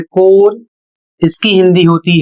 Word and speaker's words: corps: अगला शब्द है CORPS और इसे पढ़ा जाता है कोर, इसकी हिंदी होती है सेना दल।